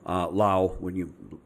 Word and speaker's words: Laos: So I gave extra consideration to Vietnam, Laos, a lot of people say Laos, but the S is silent.